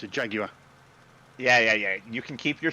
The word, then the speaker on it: Jaguar: in the beginning of the movie in that Jaguar, right? Yeah, No. You're not saying that word right. It's right to an American. It's a Jaguar.